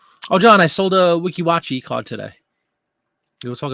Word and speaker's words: Weeki Wachee: so far I bought three Weeki Wachee it's pronounced Weeki Wachee actually phone yeah 50 for the whole time